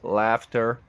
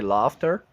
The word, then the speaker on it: laughter: loud laughter laughter laughter laughter or laughter depends if you're British or American you can choose I always like to say laughter but laughter is also